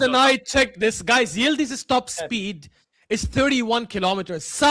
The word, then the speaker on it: Yıldız: My question is, Yıldız, Yıldız. That's how you pronounce his name.